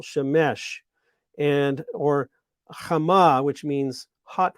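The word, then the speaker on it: שמש: The sun is called Shemesh. You have to put the accent on the last syllable, Shemesh, or Chama, which means hot one.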